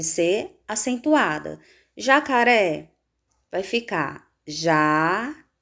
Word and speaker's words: jacaré: Jacaré vai ficar jacaré. Sílaba mais forte da palavra jacaré, ré.